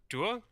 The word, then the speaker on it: Deux: It's French. You just swallow like most of the letters. It's just de.